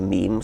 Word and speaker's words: meme: get natural selection going so I called it a meme so it doesn't exactly rhyme with gene that it's sort of you sort of shorten and sounds vaguely similar how did you feel